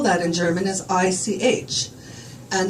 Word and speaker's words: ich: And the way that you would spell that in German is I-C-H. And the way you would pronounce that is like a cat hacking up a fur ball.